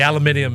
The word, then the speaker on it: aluminium: this one is uh aluminum free obviously that's a big deal everybody's talking about the aluminium is not good huge yeah I don't like that's how the Brits say it Bingo one two three